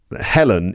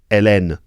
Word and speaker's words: Hélène: Helen is how I would say that in English, but in French it's Hélène, I suppose.